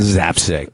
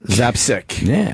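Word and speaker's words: Zapcic: Zapsick. Zapsick.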